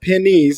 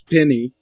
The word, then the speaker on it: Penny: It's not pennies, it's penny.